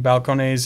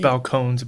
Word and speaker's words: Balcones: whiskey making comes from balconies and their willingness to to teach and to to to kind of ex it's pronounced balcones falcons bell cones uh and to give